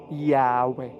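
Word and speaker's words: Yahweh: po naging yahuah then base sa mga expert sa pag-aaral ng wika na ang pinakamalapit na pagsambit or pagpronounce ay yahwe ngayon ang llu naman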